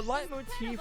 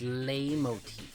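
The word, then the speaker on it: leitmotif: well as um the light Motif from chrona trigger oh cool cool it's lay Motif you got to you got to pronounce the foreign words correctly uh bde e surprised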